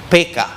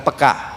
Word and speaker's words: peka: peka dalam bahasa Indonesia sebetulnya pengucapannya yang benar gaya orang Batak PK bukan peka saudara PK sensitif karena